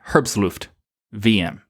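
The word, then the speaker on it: herbstluftwm: This would probably be a very good one to be on there, but if you're wondering, again, herbstluft VM is how you say this one.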